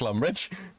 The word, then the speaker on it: Lumbridge: You're the one at Lumberge, yeah? Uh-huh. Mm-hmm. You see, Flags? He doesn't question it when I mispronounce Lumbridge.